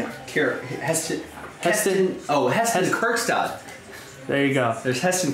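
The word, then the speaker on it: Heston Kjerstad: Heston Kerkstad.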